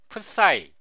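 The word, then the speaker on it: ψ: 사이의 각이 사이 각입니다이 그레이스 문자를 프사이 또는 사이라고 읽습니다이 사이의 각을 알아내는 공식이이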